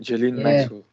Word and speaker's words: Ghislaine Maxwell: Ghislaine Maxwell.